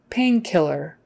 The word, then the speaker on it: painkiller: a sound pain painkiller killer emphasis on the first syllable painkiller is when you say it all together it's on the pain painkiller painkiller killer pain